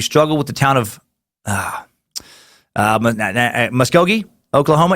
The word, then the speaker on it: Muskogee: with the town of Muskogee Oklahoma it's pronounced musk as in men's cologne Oh as in the